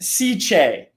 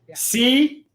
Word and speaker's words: SICCE: It is pronounced SICCE. SICCE. There's no extras in it.